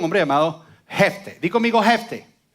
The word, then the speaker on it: Jefté: Di conmigo Jefté. O Jefté, porque tiene acento en la E.